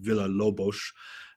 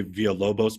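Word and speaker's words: Villa-Lobos: than i do but i believe uh the composer listed there is pronounced villalobosch from brazil i usually say via lobos but i think that's wrong i think it's villa lobos among the important pieces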